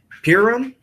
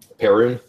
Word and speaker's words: Perun: All right, so, and it doesn't take long as, is it Piram? Is that how you pronounce his name? Pyrun? Perun. Perun? Okay, Pirun.